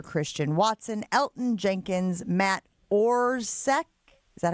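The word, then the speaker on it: Orzech: Jair Alexander, Christian Watson, Elton Jenkins, Matt Orsk.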